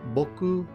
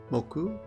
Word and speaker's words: 木: of course is tree it has two onomi pronunciations Boku and moku the on reading or onomi and the kunyomi reading is K or Co though Co is fairly rare here are some examples